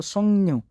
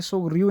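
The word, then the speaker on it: 석류: तो काफ और राब का जब ये आपस में मैच होता है तो सोंगन्यू, इसको न करके पढ़ा जाएगा, सोक रियू नहीं पढ़ेंगे, सोक रियू भी समझ लग जाएगी ना, लेकिन सोंगन्यू। जैसे इंग्लिश के अंदर कुछ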